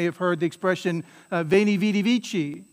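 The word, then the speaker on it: veni vidi vici: ecclesiastical pronunciation of that a classical latinist would say that what he said was wayney witty wiki right that's the classical pronunciation of latin right which sounds funny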